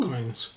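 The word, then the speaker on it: coigns: Someone mentioned on one of the previous videos these were called coins. Okay. So thank you for that. Thank Spelled you. with a Q. Q. But it's pronounced coins apparently.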